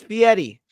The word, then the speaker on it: Fieri: It's Fieri.